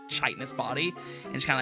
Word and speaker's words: chitinous: Fun fact: the CH is silent. It's chitinous.